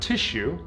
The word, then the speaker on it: tissue: Okay, now remember, tissue is spelled with 2 S's in the middle, but I'm going for sounds, consonant sounds. All I hear is a T and a Sh sound, right?